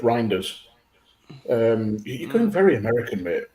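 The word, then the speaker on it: Reijnders: Graham is the sport team for Dutch pronounced reindeer. No, it's Reinders.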